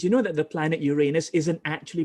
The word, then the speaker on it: Uranus: know that the planet Uranus isn't actually pronounced Uranus it's actually Uranus and it's named after the Greek god of the sky uranos you see educa uh